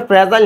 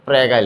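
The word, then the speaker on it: fragile: ফ্রেজাইল x syndrome নাম কি আচ্ছা তো জিনিসটা ফ্রেজাইল না জিনিসটা হচ্ছে ফ্রেগাইল উচ্চারণটা হচ্ছে ফ্রেগাইল বানানটা হচ্ছে এমন এটারে ফ্রেজাইল বলছে আরকি আচ্ছা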